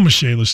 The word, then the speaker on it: Michalis: Call Michalis today. The Michalis Corporation is spelled like Michael is.